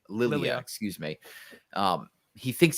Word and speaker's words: Lilia: thinks he hears I it's not Laya so how do you say it Lilia excuse me um he